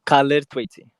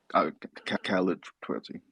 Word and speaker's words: Khalid Twaiti: Did I pronounce it correctly? Khalid, Yeah, Khalid Twaiti. Khalid Twaiti.